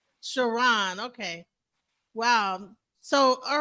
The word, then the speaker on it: Chron: names shiron you know the way it's spelled it's looks like it looks like K but it's it's pronounced shiron shiron okay wow so all